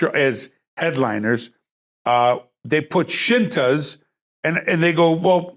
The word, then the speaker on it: Scinta: so they put the shintas and it's spelled s-c-i-n-t-a shinta plural shintas and then underneath it